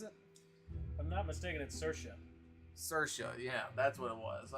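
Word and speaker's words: Saoirse: seen this name and it's not pronounced like how it looks I know it's wrong but I want to say sale Reese or something like that yeah what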